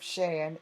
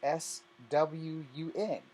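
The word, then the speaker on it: Xi'an: Instead of Shan, it's SWUN.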